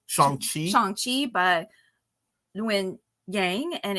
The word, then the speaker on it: Shang-Chi: Wait, how do you pronounce it correctly? Shang-Chi.